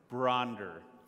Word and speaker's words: Bronder: Just pronounce it. Bronder. So, Mary Bronder.